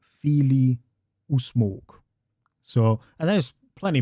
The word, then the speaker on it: Fili: The stress is a bit more on the first syllable in Neo-Khuzdul. You have Kili, Fili, because it's an extended I there, mimicking the original Old Norse yet again.